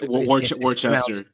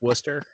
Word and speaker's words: Worcester: Uh Warchester. Yeah, it's pronounced Worcester.